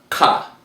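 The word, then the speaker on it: כ: The next letter we have is the letter Ka. Not to get it confused with the Cha, but this is the letter Ka. Different sound, different letter, different meaning.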